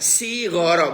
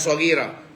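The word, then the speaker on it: صغيرا: Kok tidak rabbuna? Bacanya rabbauna, sighara bukan shaghira. Kalau jamak. Kalau mimpin berdoa diamini orang banyak, halo? Kalau doa diamini orang banyak, bukan shaghira, sighara, bukan sigura-gura. Sighara.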